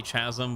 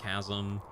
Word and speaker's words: chasm: I think I always say chasm, but it's apparently pronounced chasm and things like that.